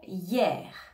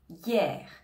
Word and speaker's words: hier: on va dire hier hier le h on ne l'entend pas on va bien prononcer le i comme si c'était un peu un y on va dire hier